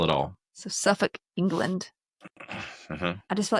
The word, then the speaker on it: Suffolk: Suffolk, England. They don't pronounce that L. Wrong. Yeah, no, they in the UK they don't pronounce the L, and neither do the people who are from, say, Norfolk, Virginia.